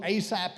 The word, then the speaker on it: Asaph: Now, does anybody know who Asaph is? Alguém sabe o que é um grande pensamento? There he is right there in Psalm chapter 78. Está aqui no Salmo 78. His name is spelled A-S-A-P-H. A-S-A-P-H.